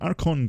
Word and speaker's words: Archon: And I always pronounced it the wrong way, but this one is called the Archon Class.